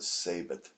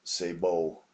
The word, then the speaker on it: sabot: the big mistake of calling the round the sabit or sabath slug when it was Sabo instead which is the correct pronunciation so I apologize to